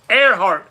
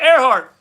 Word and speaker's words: Earhart: Earhart is how you say it. Not brain fart, Earhart.